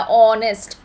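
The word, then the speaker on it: honest: ऐसा क्यों कर रहे हैं हम लोग, क्योंकि ऑनेस्ट में प्रोनाउंसिएशन जो होती है ना वो होता है ओ वाला, ऑनेस्ट, ऑनेस्ट।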